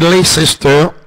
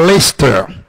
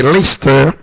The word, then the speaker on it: Leicester: Il y a des gens qui disent Leicester, mais généralement ça se prononce en Angleterre Leicester.